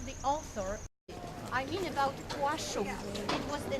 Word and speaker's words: Płaszów: will have an opportunity to pass that area, Płaszów, P-L with slash, we pronounce as you pronounce W-A-S-Z, O with comma above, it's like U-W-S-V, Płaszów.